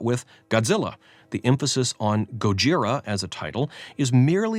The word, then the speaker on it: Gojira: kind of principle and insist on Gojira instead of Godzilla is just a pretentious kind of pointlessness Godzilla may be mispronounced but it at least